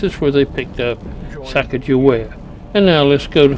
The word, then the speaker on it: Sacagawea: Her name is Sacagawea. That's closest to how they phonetically recorded it.